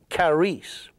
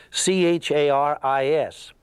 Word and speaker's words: charis: is a Greek word, charis, C-H-A-R-I-S. Now, the Greeks don't say it like that. They drop the C and they say charis. And charis, or we English speakers, we would say charis.